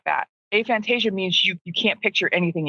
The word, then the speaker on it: aphantasia: Out of those people, 3 to 4%, much smaller percentage, will have aphantasia, which sounds like Fantasia, the movie with Mickey Mouse. With Mickey Mouse and the hippos dancing, but it's not that. Aphantasia means you can't picture anything in your head.